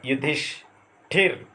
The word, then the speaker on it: युधिष्ठिर: जैसे युधि, यहाँ ई है प्रारंभ में, धन स्थिर, उच्चारण होगा युधिष्ठिर, स्थिति का स्थान ठी ने ले लिया।